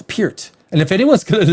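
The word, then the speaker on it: Peart: need pronunciation of his it wasn't per I always thought it was per I always thought Russia was like Neil per I did I think most people did Neil per Neil pert but Getty always pert and if anyone's going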